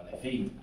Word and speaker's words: aletheia: Aquí os traigo también otra cosa bellísima, porque aletheia, o aletheia, creo que se pronuncia, es la palabra que utilizaban los griegos antes de filosofía.